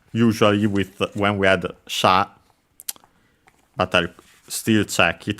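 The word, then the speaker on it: 者: uh actually a compound uh we had a sha which you have even studied in a previous series which is uh the Chinese pronunciation of the kanzi uh for person the one used uh more often than not as sha sometimes also as mono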